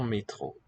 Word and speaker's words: métro: So for that sharp E quality, we need a special symbol. A with an letter E with an acute accent. Métro. Otherwise, it would be métro with no mark above it.